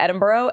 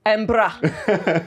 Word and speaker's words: Edinburgh: He came to Edinburgh and we were there. That's not how you say it. Edinburgh.